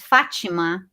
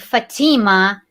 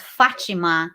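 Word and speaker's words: Fátima: real name right and in brazil you pronounce my name is fachima in america they pronounce my name fatima and that and that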